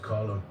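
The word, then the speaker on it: Colm: Cuz that's the Irish name or Yeah, it's pronounced column.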